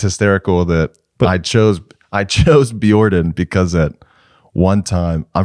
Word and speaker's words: Bjordan: The pronunciation of your project. Yeah. I go Bjordan. Bjordan. Yeah, like Bjork.